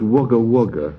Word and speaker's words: Wagga Wagga: May I say, Jack, before you're brained with a tube of ice-cold Foster's, that it's pronounced Wagga Wagga.